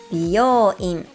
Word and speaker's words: 美容院: It's important to get the contracted sound part right because without it, 美容院 means a hair salon, a totally different facility.